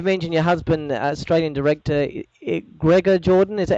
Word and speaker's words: Gregor Jordan: person that you mentioned your husband Australian director Gregor Jordan is that how you pronounce his name yes yeah now you mentioned